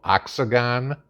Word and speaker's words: Oxagon: too okay there's a sec separate complex called oxagon i'm not mispronouncing that o-x-a-g-o-n okay where all business is